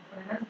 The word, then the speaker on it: Fresnel: If the source and spring, so first one will I will give you the idea of Fresnel's diffraction. S is silent.